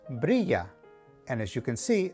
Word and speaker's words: brilla: is e number two whenever you see two l's in a word they are pronounced like the letter y for example this word is pronounced brilla and as you can